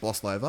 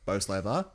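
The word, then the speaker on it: Bolsover: and then we've got I think it's pronounced boss lover or BOS lover it's in Darby year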